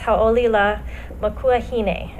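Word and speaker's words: Hauʻoli Lā Makuahine: And in Hawaiian, it's ha'olila makuahine is how you say it.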